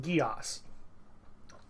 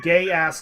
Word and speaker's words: Geass: he's also right by about the pronunciation it's pronounced Geass I never really minded you guys mispronouncing it